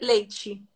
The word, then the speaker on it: leite: leite e si legge leici.